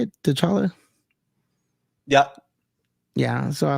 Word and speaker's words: T'Challa: I like how they did the death, of T'Challa. T'Challa, is that how you say it? T'Challa?